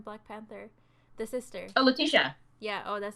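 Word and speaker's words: Letitia: place here and the lady from um the titia right the lady from black panther the sister oh latisha yeah oh that's how you say it sorry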